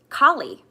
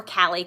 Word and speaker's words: Kali: um i kept um goddess kali or cali i think it's kali is the proper pronunciation came into my field